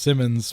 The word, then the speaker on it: Simons: B, it has a kind of a unique spelling, so it's pronounced Simmons, but it's spelled with one M.